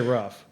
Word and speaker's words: roof: How do you pronounce the word that covers your house? Roof. Roof. Okay, that's weird. What do you put your groceries in? Roof. But people here say rough.